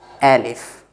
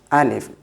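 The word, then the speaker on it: ألف: So mostly I have noticed that people, if you will, an English person will try to read like Alif, but the sound in Arabic, it's the A sound is not that way, it's Alif.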